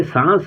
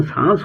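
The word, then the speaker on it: sans: अपनी सादा जिंदगी के साथ एस ए एन एस यह सांस है। इसका उच्चारण सांस होता है।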